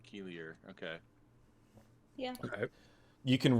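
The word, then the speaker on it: Keilier: say it again k-e-i-l-i-e-r I'm gonna pronounce it Keeler all right keelier okay yeah okay you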